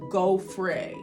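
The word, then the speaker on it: Gaufre: It's spelled Gauffre, but it is pronounced Gauffre.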